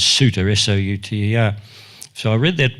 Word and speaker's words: Souter: Paraguay, by a man, I pronounce his name as Souter, S-O-U-T-E-R.